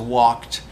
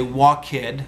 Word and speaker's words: walked: You're not actually pronouncing the ED sound. You're pronouncing a T sound. There's no E in there at all, and the D changes to a T when it's next to an unvoiced consonant. So you don't say walk-id or jump-id, you say walked and jumped.